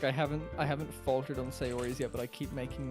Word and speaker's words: Sayori: It's cute that you spelt my favorite person's name wrong. Did I? How do you say it? Natyuri? Sayuru? Sayori, there's an O in it somewhere. Oh, is there? Yori? Sayori?